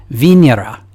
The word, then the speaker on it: Venera: without that American accent I think it's supposed to be pronounced vinera I'm always torn between